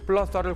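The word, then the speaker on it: plaza: 크리제트 Z 발음을 에스파냐어에서는 뭐라고 할까요? 무성 사 이런 식으로. 플라사.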